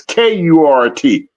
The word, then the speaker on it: Kurt: It's not spelled like that. It's K U R T.